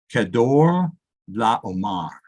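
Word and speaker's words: Chedorlaomer: It's Kedor Laomar. And it doesn't look like it sounds that way.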